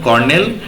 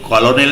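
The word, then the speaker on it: colonel: কে দিচ্ছিল দেখো প্রথমে কি বলতে চাইবো দেখো কর্নেল জন হান্ট দেখো এটার উচ্চারণ কিন্তু কলোনেল নয় কার্নেল ঠিক আছে কার্নেল জন হান্ট ওকে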